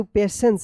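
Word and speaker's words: patience: पेशेंस देखिए यहां पे पी ए टी आई ई एन सी ई पेशेंस टी आई का यहां पे ये पेशेंस से उच्चारण हो रहा है ना श पेशेंस एंड काइंडनेस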